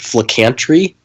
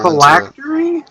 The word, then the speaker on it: phylactery: A phylactery? Flicantry. I'll spell it for you. Phylactery. Phylactery. It's very hard to pronounce. It's factory, but with full in front of it. But it's PHYL.